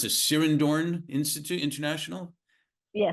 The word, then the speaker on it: Sirindhorn: Is it pronounced the Sirindhorn Institute International? Yeah, Sirindhorn International.